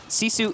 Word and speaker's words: GiFu: those of you unfamiliar Sisu is spelled gif you so that's what we're pronouncing right now you almost got